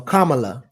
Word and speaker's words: Kamala: So Kamala, is like she Kamala?